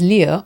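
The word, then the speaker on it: 六: 6 is Leo, which apparently is a lucky number. It sounds very much like Leo to me. It's falling tone on the U.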